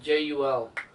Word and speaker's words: Jul: Halsey teaming with the elite didac Jewel, how do you pronounce it? Jul.